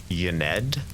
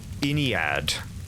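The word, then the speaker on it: Ynnead: Oh, I'm not sure I'm pronouncing that right. Yaned. Oh, pronounced Iniad.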